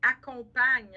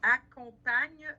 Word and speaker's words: accompagne: Accompagne. Hein? Accompagne, on ne prononce pas la terminaison.